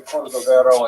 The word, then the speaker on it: Cordovero: on his Marseva illustration, it's Cordoero. It's a Portuguese spelling, but it's kind of a strange thing to pronounce in Hebrew, so it was sort of mangled into Cordovero, and that has become standard, even though it's probably not correct.